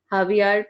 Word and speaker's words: Javier: हावियार pitched the baseball. ये JAVIER लिखा हुआ है लेकिन इसे प्रोनाउंस हावियार करते हैं।